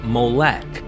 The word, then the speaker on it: Molech: The vowels added by the medieval Jewish scribes known as the Masoretes produce the pronunciation Molech, while the spelling Moloch comes from the Greek Septuagint and Latin Vulgate translations.